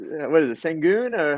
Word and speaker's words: Şengün: Oh You yeah, said, what is it, Sengun, or how do you say his name? Alperen Sorry, Şengün.